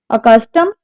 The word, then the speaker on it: accustomed: Accustomed, accustomed. The stress is on the second syllable.